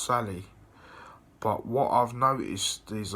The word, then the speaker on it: Salı: And in Turkish, Tuesday is called Salı, and it could also, in English, it would be pronounced Sally.